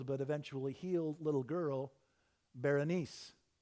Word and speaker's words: Berenice: eventually healed little girl Berenice Berenice is a Greek name and the Greeks pronounce it berenike and just like with